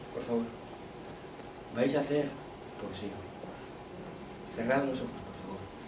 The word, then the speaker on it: poesía: ¿Qué es la poesía? ¿Qué es la poesía? ¿Sabéis? Con acento en la I, es la única palabra que merece tal énfasis.